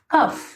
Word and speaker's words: cough: इसी तरीके से रफ और है TROUGH ट्रफ, COUGH कफ। तो OU और AU के साथ जब लास्ट में GH F की साउंड देता है।